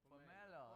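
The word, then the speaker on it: Pomerleau: Hey Aram, you're gonna have to help us pronounce Pomerlo. Pomerlo. Pomerlo.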